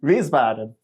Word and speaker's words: Wiesbaden: Wiesbaden.